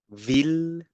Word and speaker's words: ville: But then there are 3 exceptions where you need to go back to the L sound, which is mille, ville, and, well, actually there's